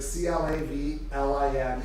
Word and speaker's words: Clavelin: The next question is the Clavelon, a 620 milliliter bottle, is traditionally used for which wine? A. I'll just say it phonetically. Clavelin, like Clavlin, 620 milliliter bottle, is traditionally used for A.